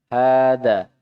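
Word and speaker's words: هذا: Hadza tulisannya seperti ini, tapi ha-nya dibaca panjang. Hadza.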